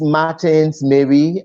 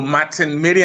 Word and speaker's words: Martin Mary: So who is Martins Mary, and where is he from, and all that? I will first correct the pronunciation of my name to Martin Mary and not Martins.